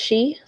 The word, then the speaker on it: sidhe: Oh, I think it's pronounced she, or this. I think it's she.